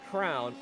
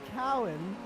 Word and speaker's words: Cowan: Ron McGuire and Charlie Crown, both of them up 22 spots. Sorry, and Austin, how did you pronounce that name? Oh gosh, dang it. There's no R in that name. It's Charlie Cowan.